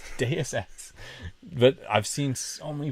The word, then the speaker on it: Deus Ex: It's Deus Ex.